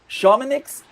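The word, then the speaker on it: Chamonix: Now, four years later, at the first true winter games, uh, I believe the pronunciation was shamanics in 1924, Canada did it again.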